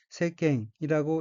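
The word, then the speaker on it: 世間: 다음 어휘는 한자가 한국어로 세간이고 각기 인간세, 사이간자이고 일본어로는 세갱이라고 읽으며 세갱은 세상, 사회, 세상 사람들, 활동, 교제의 범위라는 뜻의 명사입니다.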